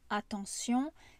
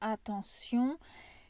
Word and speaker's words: attention: je prends le mot attention ici il y a des règles de prononciation le T ça se prononce comme un S le E et le N ça fait le son en ici le Ion on